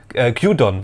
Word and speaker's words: Gyudon: Gyudon wird's ausgesprochen.